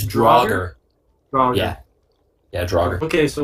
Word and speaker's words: Draugr: How do you pronounce that again? It's Draugr.